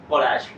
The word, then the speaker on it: Balázs: Ah, Balázs.